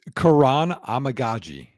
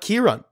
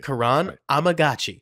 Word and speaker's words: Kiran Amegadjie: Yale whose name I'm gonna let Nick whan pronounce so Nick how do I say this it's Karan amaji Kuran so it's not Kiran okay Karan amagi perfect Nicks I think watched a little more